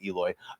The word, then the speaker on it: Aloy: Their salvation comes in the form of a young female warrior, just what we need, named Eloy. I mean, it says Aloy, but they pronounce it Eloy, who has no idea she's the key to saving the world.